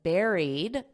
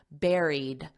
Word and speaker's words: buried: which they believe was buried notice this pronunciation don't look at the spelling because it doesn't have this sound it's the same as a strawberry Berry Airy buried and then you just